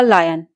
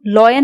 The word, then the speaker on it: lion: There was था अ लायन, एक शेर। इसको हम लॉयन नहीं बोलते, इसकी करेक्ट प्रोनाउंसिएशन होती है लायन।